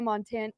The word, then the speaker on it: Montano: wife name is Montano. Montana. Yeah, it is- Montano. Yes. It is spelled phonetically nearly like Montana.